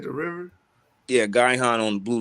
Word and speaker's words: Gihon: you can you type up the word uh guy han real quick let's spell it g-i-h-o-n and can you pull it up in the blue letter oh you talking about the gihon spring that's in israel by the way spring